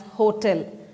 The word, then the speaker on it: hotel: to call it as hotel so this is about intonation so the stress is on T and not on H in this particular word so